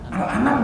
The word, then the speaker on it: Al-An'am: saja salah, Al-An'am loh, ya kan, kan disebutnya Al-An'am kan, Ali Imran juga salah, Ali Imran kan,